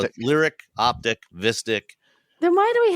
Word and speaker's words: Optiq: It's going to be the Optique. Oh, the Optique. No, it's the Optiq.